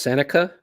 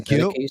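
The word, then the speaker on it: Sennecke: Yes, as I've come to realize, it's pronounced Seneca as opposed to Seneke.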